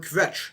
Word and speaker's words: kvetch: In chorus, people misuse the word kvetch on a daily basis, and does it bothers me.